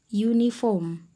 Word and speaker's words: uniform: ntoh sih es uniform meskipun uniform ini dituliskan dengan huruf u pada awalnya namun ketika diucapkan bunyinya berubah menjadi iye uniform maka artikel yang digunakan